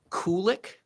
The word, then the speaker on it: Kulick: Um, I still I still think it's funny Drake's last name is pronounced Kulick, like cool whip.